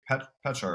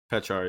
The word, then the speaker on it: Pechar: I want to say we've got Pechar, right? Pechar, yeah.